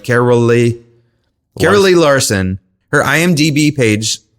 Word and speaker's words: Caroly: to say her name carolly Carol it's like it's like they tried to say Carolyn but they forgot the n on her birth certificate so it's like carolly carolly Larson Her IMDb